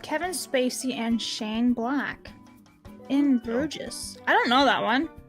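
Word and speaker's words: In Bruges: In Brouges, I don't know that one. Am I even saying that right? I don't know. It's pronounced in Bruge.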